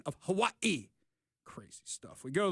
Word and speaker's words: Hawaii: Okay, first of all, my wife's Samoan, and she's not Hawaiian, but they say it Hawaii. Hawaii. Anyhow. They don't have the V in there.